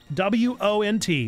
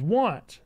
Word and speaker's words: wont: Zando, W-O-N-T, without the apostrophe, to be want to do something, to have a proclivity for something, is want. And maybe 30 Bats is telling me that there are people that mispronounce it as won't, and I'm losing my marbles.